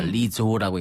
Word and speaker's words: Lizzo: 스펠링이 이제 LIZZO입니다. 그래서 리조라고 읽는데 리조는 미국 미시건 출신의 1988년생 가수예요.